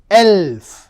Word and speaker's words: elf: Elf. 11 is pronounced as elf.